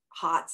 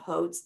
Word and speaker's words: Hotz: mispronounced um you know because it looks like Hots not Hotes I know that still irritates me my name is Hotes right um I've got